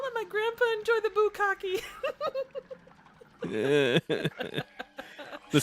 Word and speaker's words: bukkake: Little bukkake for your viewing pleasure. It's pronounced boo cake.